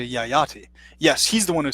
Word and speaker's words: Yayati: that's what I mentioned I didn't pronounce yah yah tea not Jedi see Maharaja Yayati yes he's the one